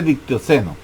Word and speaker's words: dictioteno: dictioceno aquí está dictioceno dictioteno se escribe pero se se se escribe dictioteno pero se dice dictoseno por la larga a partir de la